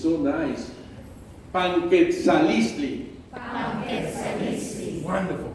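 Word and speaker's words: Panquetzaliztli: You are very easy to pronunciation. It's so nice. Panquetzalistli. Wonderful. Panquetzalistli.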